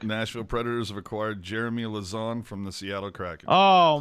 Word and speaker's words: Lauzon: just say it correctly say it again lausanne i would i mean lows on jeremy lowe's on but oh lauzon okay that's cool you're not saying lasagna you know what i